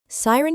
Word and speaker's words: siren: Siren can break it down into two parts: sigh, like when you're exhaling deeply, and ren, rhyming with 10. Siren. It's siren, with the emphasis on the first syllable, and siren.